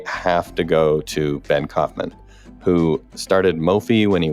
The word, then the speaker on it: Kaufman: It's Kaufman.